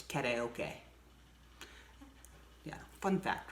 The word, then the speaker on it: karaoke: We've also been pronouncing karaoke wrong. It's karaoke.